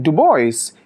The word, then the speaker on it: DuBois: see the sun in dubois is actually originally a french surname so the correct way to pronounce it would be to say dubois so that would actually